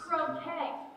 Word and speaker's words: croquet: Croquet. The T is silent.